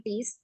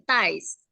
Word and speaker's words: ties: Jadi dasi itu cara membacanya bukan tis, tapi ties.